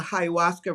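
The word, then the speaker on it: ayahuasca: and his I don't even know how to pronounce. I've never I've never done that. But uh there you go. Ayawaska.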